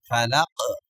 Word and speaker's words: فلق: ক বা জিম দাল এই পাঁচটি অক্ষরে যদি সাকিন হয় তাহলে ধাক্কা দিয়ে পড়তে হবে ফালাক এরকম উচ্চারণ হবে তাহলে আমরা পুরাটা উচ্চারণ